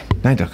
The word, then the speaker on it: Nayduch: Nayduch, I said it right, okay.